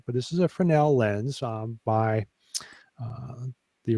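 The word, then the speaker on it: Fresnel: Z NE L but the Z I guess is silent but this is a Fel lens um by uh the original designer of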